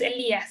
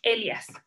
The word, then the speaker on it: Elias: Se escribe así, sin acento, no es Elías, es Elias.